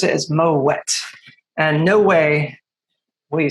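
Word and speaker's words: Moët: the family name is actually dutch in origin so the moet family was from flanders so kind of modern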